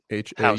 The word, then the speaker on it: Haus: this model to do the Haus token, House, yeah. HAUS, right? Haus token. Okay, I think it's like German. I always think to a It German is German. We pronunciation. probably could Yeah, say house, but we yeah. just say house.